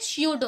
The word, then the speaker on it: pseudo: स्यूडो। क्या करेंगे? स्यूडो। पी जो है वो साइलेंट है, इसलिए अच्छे से आप प्रोनाउंसिएशन भी इसका सही करें।